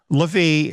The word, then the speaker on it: Levi: Dan is removed and Levi is the one that's taking its place or levie if you prefer that pronunciation but it's interesting here